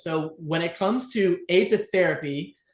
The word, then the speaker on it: apitherapy: Apitherapy.